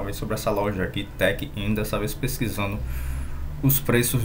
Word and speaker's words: TechInn: TechIn, né? Se pronuncia assim.